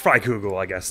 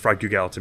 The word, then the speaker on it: Freikugel: It's Freikugel, I guess, not Freikugal. It always feels like it should be pronounced Freikugal to me, but I don't know what the etymology is, so I don't know why I had that feeling.